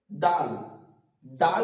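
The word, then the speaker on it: دال: খ হয়ে না যায় এটা হবে খ তারপরে দাল দাল উচ্চারণ করার সময় মনে রাখবো তা যেখান থেকে আমাদের উচ্চারিত হচ্ছিল ঠিক সেখান থেকে দাল উচ্চারিত হবে এখানে যেমন দেয়া আছে দাল দাল বলার সময় আমরা উচ্চিত করব যে জীবটা উপরের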